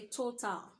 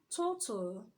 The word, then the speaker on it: total: should say what's practical we shouldn't say Tata you should say what total and we shouldn't say